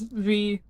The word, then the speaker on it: Vee: So, user genus of bees V, my name rhymes with B.